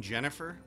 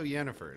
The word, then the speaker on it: Yennefer: gamer for this uh he heard yenifer and he goes don't you mean Jennifer and they were like the guy was like no yennefer he's like no Jennifer that's her name Jennifer die meridium new word